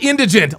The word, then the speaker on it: indigent: Not indignant. Not indigenous. It's indigent. Indigent.